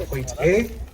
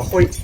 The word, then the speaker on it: Hoite: So we started a program called Hoite. Now Hoite is spelled H-O-I-T-E.